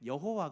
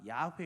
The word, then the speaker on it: 야훼: 여호와 야훼 이렇게 씁니다 원래는 여호와 가 아니라 야외 입니다 의 아베 원래 발음은 그런데 아 이스라엘 민족들을